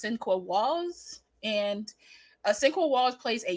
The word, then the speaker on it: Sinqua Walls: This has Brian Cox and I believe his name is pronounced Sinqua Walls.